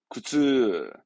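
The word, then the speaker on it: 苦痛: 발음은 구츠, 구츠.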